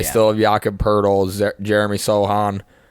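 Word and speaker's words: Sochan: They still have Jakob Poeltl, Jeremy Sohan, right? That's how you say his name, Sohan.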